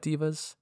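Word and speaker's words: devas: types of asimon are agathon light asimon m divas monatic divas astral divas planetar and solars and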